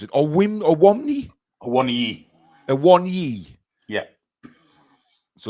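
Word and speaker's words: Awoniyi: Awonyi. Yeah. So it's basically like saying I want ye in Geordie. Yes, I want ye. Except missing the T out.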